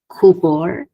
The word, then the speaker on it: kubor: Disyllabic non-native, same pattern, kubor. So bor gets the primary, ku gets the secondary stress.